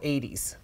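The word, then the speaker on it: Eytys: a company from Sweden from Stockholm I'm called 80s and it's spelled a white eys and they make amazing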